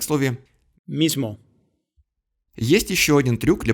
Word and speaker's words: mismo: А вот в испанском языке сонорный согласный тоже будет озвончать предыдущий звук, как в слове mismo, Есть еще один трюк для повышения сонорности.